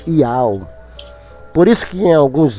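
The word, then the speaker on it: יהוה: Só que Iá é uma abreviação da pronúncia Iau, que é Yud, Re, Vav, Re. O Re é mudo. É o YHWH, o H é mudo. Então é pronunciado Iau.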